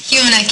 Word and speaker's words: Humanek: How do you say your name? Humanek, Your Honor. Humanuk, so I said it right.